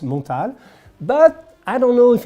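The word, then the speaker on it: Montale: is Pierre mortal so it is French it's pronounced montal but I don't know if in their marketing they want to pronounce it montally I don't know but I think it's or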